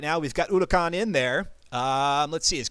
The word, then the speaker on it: Huracan: AMS Huracan. Yes, I know I've been saying Huracan, and I know the H is silent, but that's just my initial instincts to just throw out the Huracan out there.